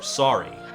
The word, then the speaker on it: sorry: And I've really wanted to review this song in particular, Sorry. Or as the Canadian Bieber pronounces it, sorry.